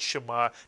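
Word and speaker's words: שְׁמַע: we're using the word Shema to teach the notion that the shva is never counted as a vowel, even when it's pronounced. Here you have a one-syllable word, Shema, to hear, listen, understand.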